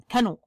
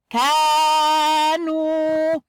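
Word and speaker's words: كانوا: This is a very short sound. Kanu. Doesn't have any meaning in the Arabic, and it is wrong way to pronounce it. And this is the correct way. Kanu. Kaf with alif madda, which comes with a fatah sign on the top. Kanu. This is the right way.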